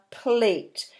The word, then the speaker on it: plate: a plate up plate a plate remember that e makes the AH into a long a sound that's what that letter